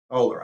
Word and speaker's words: Ohler: Ohler, I had the name wrong.